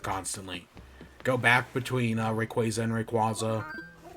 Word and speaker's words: Rayquaza: it arceus arceus and rayquaza not rayquaza rayquaza like quasar it's hydro city hydrocity